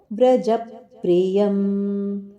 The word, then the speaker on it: ವ್ರಜಪ್ರಿಯಂ: ಉಚ್ಚಾರಣೆ ಸಚ್ಚಿದಾನಂದಂ ವಾಸುದೇವಂ ವ್ರಜಪ್ರಿಯಂ ವಾಸುದೇವಂ ಇಲ್ಲಿ ಸಹ ಅನುನಾ ಅನುನಾಸಿಕವದ್ ವ್ರಜಪ್ರಿಯಂ ಜದ ಮೇಲೆ ಆಘಾತವಿದೆ ಪಕಾರದ ಆಘಾತ ಕೊಟ್ಟು ಹೇಳಬೇಕು ವ್ರಜಪ್ರಿಯಂ ಧರ್ಮ ಸಂಸ್ಥಾಪಕಂ ವೀರಂ ಧರ್ಮ